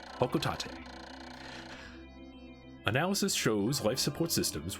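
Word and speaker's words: Hocotate: It's the official pronunciation, Hokotate.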